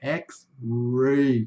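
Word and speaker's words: X-ray: Então, Xray, puxa esse R, tá? Às vezes eu vejo pessoal falando Xray, Xray, né? Tudo bem, mas no inglês é Xray. Tem que puxar o R lá lá de dentro, Xray.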